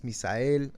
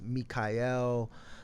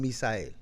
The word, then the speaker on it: Misael: And everywhere I go, everybody's saying my name wrong. It's Mikael, Michael. They call me everything but Misael.